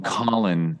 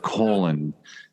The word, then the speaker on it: Colin: and he'd spent decades trying to get people to call him Colin instead of colon because colon is a poor part of the human body and pal gets hugely